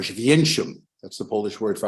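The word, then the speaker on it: Oświęcim: In Polish, every word has its stress on the next to last syllable. That's why it's Warszawa or Święcim.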